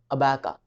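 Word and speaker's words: abaca: तो तीसरा वर्ड जो है हमारा इस एपिसोड में वो है अबैका और अबका। दोनों तरह से प्रोनाउंस कर सकते हैं आप।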